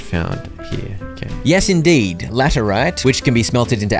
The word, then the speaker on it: laterite: Bunch of laterite. It's pronounced laterite.